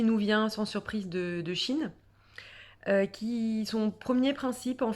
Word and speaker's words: qi: chinoise on appelle ça le tchi qui s'écrit QI mais qui se prononce chi comme dans la pratique la pratique martiale le chi kong donc le tchi c'est